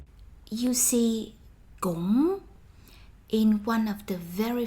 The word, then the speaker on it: cũng: you see cũng in one of the very first Vietnamese lessons of yours, meaning also, too, as well. Close your mouth when you pronounce this word. Cũng, cũng, cũng.